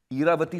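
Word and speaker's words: Ira: ईरावती सुना है आप लोगों ने? तो उसका शॉर्ट फॉर्म है ईरा, but Reena wanted to pronounce it Ayra.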